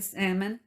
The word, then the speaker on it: Salmon: the water supply in salmon idaho now it's spelt salmon like the fish so i hope i don't pronounce the l the beavers save the